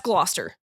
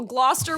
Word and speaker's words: Gloucester: Seems like there's there's there's a lot of letters in there that aren't pronounced that Yeah, I there's